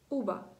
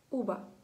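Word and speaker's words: uva: Вона вимовляється між звуком б і між звуком в, але вона вимовляється з дуже розслабленими губами.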